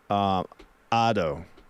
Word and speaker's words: Ado: Oh, they're pronounced like in Spanish?